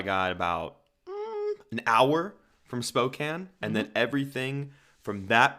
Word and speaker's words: Spokane: like a castle OD I'm going to correct you there you're saying it wrong it's Spokane fry that's you're not there anymore you don't have to say it the wrong way thank God Spokan Spokan